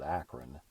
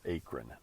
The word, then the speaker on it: Akron: Now, most of us in Ohio pronounce it Akron, but if you're not, and you look at the spelling of it, you might be thinking it's Akron, but no.